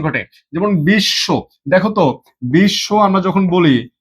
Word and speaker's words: বিশ্ব: Double double উচ্চারণ ঘটে। যেমন বিশ্ব দেখতো বিশ্ব আমরা যখন বলি বিশ্ব এখানে কি আমাদের দুইবার তালব্যস দেয়া আছে?